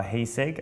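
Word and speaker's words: Heisig: There's books like Remembering the Kanji by Heiseg, I think is how you pronounce it.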